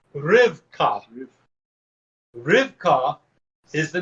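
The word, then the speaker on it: רבקה: hey is your h so it reads rip ripcock but it actually is pronounced rivka rivka is the name of rebecca what a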